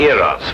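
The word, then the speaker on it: Eros: influence of cockney stagehands she added an h where there shouldn't have been one what then spell it as she spelled it but without the h e r o s precisely and here he is cupid the greek god eras with his broken feet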